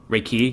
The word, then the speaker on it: Reiki: And am I correct that the emphasis of the word Reiki, it's on ki? Reiki?